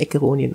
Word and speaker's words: Acheronian: Also ist eigentlich richtig, aber ich selbst nenne mich und der Nachname wird Acheronian ausgesprochen. Acheronian, okay. Also wie der Archer quasi, Acheronian.